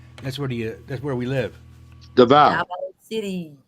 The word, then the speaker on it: Davao: Oh, I am going to Wanap and Davio. That's where we live. Davao. Davao City. I always say Davio. Shut. Why Davio? It's like Because that's the way it's it's spelled.